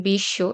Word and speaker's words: বিশ্ব: শব্দের শুরুতে থাকলে সেগুলোর উচ্চারণ হয় না, শব্দের মাঝখানে থাকলে দ্বিত্ব উচ্চারণ হয়। যেমন বিশ্ব এখানে স এর উচ্চারণ ২ বার হচ্ছে।